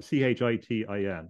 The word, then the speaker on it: chitin: Another fact is that this stuff contains chitin, or Chitin. It's pronounced different ways, but chitin, I think, is the best pronunciation.